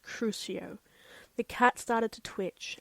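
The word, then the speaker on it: Crucio: The torture curse is pronounced cruio.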